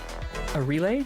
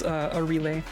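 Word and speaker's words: Arile: but her it's it's a relay is is how you pronounce it I guess um and she's another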